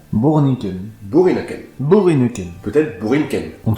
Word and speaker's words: Boerinneken: Borinken. Oui, puisque le son OE en néerlandais se prononce OU. Borinken. Bourrinken.